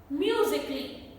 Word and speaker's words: musically: The correct pronunciation is logically, not logically. Kali, no. Logically. Musically, not musically.